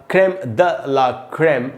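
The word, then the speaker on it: crème de la crème: है, क्रेम ड ला, क्रेम द ला क्रेम, ऐसे पढ़ना चाहिए। द बोलेंगे तो प्योर फ्रेंच का उच्चारण होगा, ड बोलेंगे तो इंग्लिश का उच्चारण होगा, क्रेम ड ला क्रेम, ऐसे पढ़ना है।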